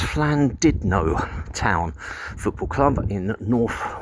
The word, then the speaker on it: Llandudno: I think it's pronounced Llandudno Town Football Club in North Wales.